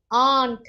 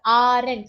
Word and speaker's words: aren't: tend to say as R and so that's not the right way it is Aunt a-u-n-t that is the pronunciation okay it is not